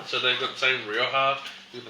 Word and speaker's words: Rioja: Now, we're going to look at some Spanish wine from Rioja. That last J is always a H.